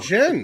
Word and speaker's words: djinn: Jen. D is silent.